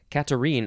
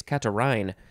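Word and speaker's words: catarrhine: to the last one katarine or no actually it's catarin adjective from 1863 of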